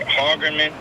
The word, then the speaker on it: Hagerman: Let me see if I can pronounce this right. Hagerman. Hagerman.